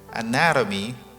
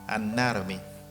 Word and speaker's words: anatomy: word the sound talk but here anatomy we stress the second syllable anatomy all right right now